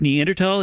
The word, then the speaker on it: Neanderthal: many brains with the neanderthal gene offer hints about human evolution are you pronouncing it right yes it's pronounced neanderthal it comes from the neander valley of germany nobody nobody says that